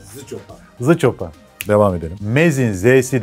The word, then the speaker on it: Zschopau: Acaba biz bunları doğru mu telaffuz ediyoruz? Bence tam olarak Zıçopa.